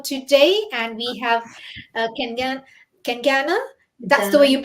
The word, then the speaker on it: Kencana: So without further ado, I would like to introduce my guest for today, and we have Kengan Kengana. That's the way Kencana? you pronounce it. Kengana, Yes, yes, Kengana.